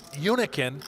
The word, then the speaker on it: Hunichen: Yet the last name is pronounced Uniken.